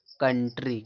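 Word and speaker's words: country: कंट्री। कंट्री माने क्या होता है? देश होता है। समझ पा रहे हो? यानी कि ओ यू का उच्चारण क्या निकलता है? आ निकलता है।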